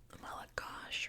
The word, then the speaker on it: Malagasy: When I talk about English Malagasy, it's actual Malagash, right? Hello, in English we'd say Manahoana, but it's pronounced Manaon.